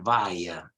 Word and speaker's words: via: It's a Latin word, but it's pronounced via, via, via, okay? Both in British and American English, via. It's hardly ever pronounced via.